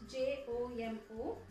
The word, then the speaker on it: Jomo: Even though it is spelled J-O-M-O, we are not supposed to pronounce J. It is silent, so we are supposed to pronounce it as Jomo Kenyatta.